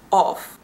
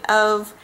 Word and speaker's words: of: in of as the there's no f sound it's a v put those together and